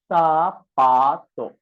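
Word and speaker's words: zapato: This Z is spelled as what? Sa. So it is spelled as sapato.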